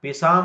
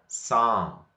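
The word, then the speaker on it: psalm: ಇಲ್ಲಿ ಏನಾಗಬೇಕು, ನಾವು ಪಿ ಅನ್ನು ಉಚ್ಚಾರಣೆ ಮಾಡಬಾರ್ದು. ಪಿಸಾಮ್ ಅನ್ನಬಾರ್ದು. ಏನ್ ಅನ್ಬೇಕು, ಇದಕ್ಕ ಸಾಮ್.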